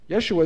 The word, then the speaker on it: Yeshua: what it would be yeshua is how you say it in aramaic in hebrew yeshi he says yeshi this is yeshi yet